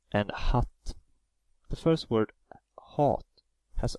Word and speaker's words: hat: The first word hat has only one t after the a, so a is pronounced as the long vowel, hat.